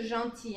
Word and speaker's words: gentil: Gentil. Ah, c'est la L. Ça se prononce pas.